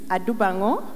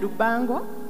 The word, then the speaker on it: Adubango: I do Bangor I hope that from the last time I was here some of you that didn't know how to pronounce my name now no I hope you yes you're not saying that you Bongo but like I usually